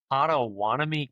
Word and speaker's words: Pottawattamie: because the county is a little interesting to pronounce, but it looks like Ottoanami County.